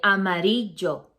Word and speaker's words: amarillo: For example, when you say amarillo, instead of the correct pronunciation, double L in Spanish is pronunciated with a Y sound like yo. So you say amarillo.